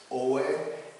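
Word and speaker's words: Ōi: But these artists here, including Katsushika Hokusai's daughter, whose name is pronounced in a few different ways. Oe is the way that I tend to refer to her, Katsushika Oe.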